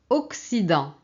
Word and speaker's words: Occident: Occident, Occident, l'Occidente. Occident. Donc ici on a un E, ici on a un I, donc le CC fonctionne comme un C.